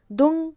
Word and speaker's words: दुं: अब कुछ लोग इस मंत्र को दुम पढ़ते हैं, ओम दुम दुर्गाय नमः, लेकिन नहीं, इसका जो सही उच्चारण है वो है ओम दुंग दुर्गाय नमः।